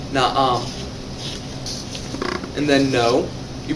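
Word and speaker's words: نعم: Another handy one to have is yes. You pronounce that by saying na'am.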